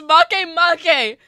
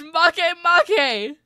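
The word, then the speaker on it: Makemake: It's pronounced Make Make! No E sounds in sight, my guy. It's Make Make!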